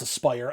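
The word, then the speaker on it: Aspyr: as as I'm sorry it's actually pronounced Aspire as spire's parent company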